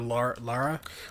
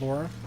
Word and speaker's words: Lara: It's Lara. Billy Duke. I don't know if you heard it, but it's Lara, not Laura.